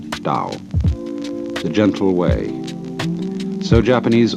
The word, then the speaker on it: Tao: word Dao you know that's spelled Tao I don't know why because it's usually pronounced Dao and the Dao means